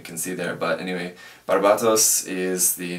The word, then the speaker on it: Barbatos: and calling it Gundam Barbados pronouncing it like the country Barbados the Japanese Katakana says barbatos so it should be pronounced as a t not as a D um just in case